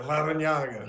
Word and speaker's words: Larrañaga: There's a double R, too, right, Coach? So you have an R in there also. Can you roll your R's? Yeah, Larrañaga.